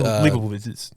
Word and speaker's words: Leibovitz: It's, Leibovitz. Leibowitz. Yeah, that's the way I pronounce Oh. it anyway. Leibowitz. See, I put a V in there because I think I'm German or something.